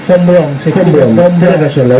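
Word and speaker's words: Braun: También dice el Bom Brown, Bomb Brom es, sí, se pronuncia Bron.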